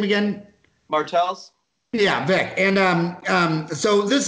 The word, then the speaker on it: Martels: Martels.